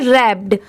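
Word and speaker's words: wrapped: बट इसकी pronunciation क्या है? रैप्ड आर A double P ई डी बस इतना ही प्रोनाउंस किया जाता है। डब्ल्यू को नहीं ऐड किया जाता। यह भी इस वर्ड में डब्ल्यू लेटर साइलेंट है।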